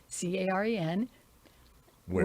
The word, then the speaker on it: Caren Ware: So just look it up on Caren with the C, Caren, Ware, Ware. It rhymes. Ware, Caren, Ware event.